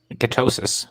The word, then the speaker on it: ketosis: Was it ketogenesis, they call it? Am I pronouncing that right? Ketosis. Yeah, ketosis.